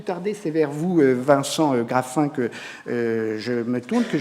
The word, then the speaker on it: Graffin: Je précise, Vincent Graffin, que vous êtes délégué au développement durable et à l'expertise au Muséum national d'histoire naturelle.